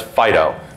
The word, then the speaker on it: FD.io: Typically FD.IO will be pronounced as FIDO because we're cutesy like that.